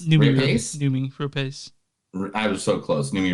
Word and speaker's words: Noomi Rapace: All right, so the first movie, Lamb, it features Naomi Rapace. Noomi Rapace.